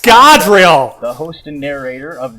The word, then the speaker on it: Scadrial: It's pronounced Scadrial.